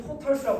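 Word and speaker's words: tortoise: 움직이지 않은 상태 있던 거 누가 그 거북기가 사실 실제로 그 거북기는이 거북을 근데 발음은 토털스라고 한대요. 토탈스 예 토털스 거북이 근데 거북기는 토틀 아닌가요?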